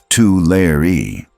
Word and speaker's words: Tulare: By the way, it's pronounced two layer.